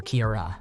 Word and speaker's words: Kiara: just over a year my name is Kiara it's pronounced like Kira nly not like Sierra or Kiara my in-laws struggled with